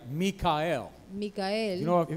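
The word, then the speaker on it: מיכאל: Mikael. Mikael. You know, if you know any Michaels, you're pronouncing the name wrong. Si usted lo pronuncia así, at least in Hebrew, Michael is Mikael.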